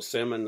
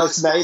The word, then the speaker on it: Smaine: Well, today we're very excited to meet a filmmaker, Algerian American filmmaker, Smaine, or Simon, as the French would like to, like to pronounce his name. No, Smaine is great.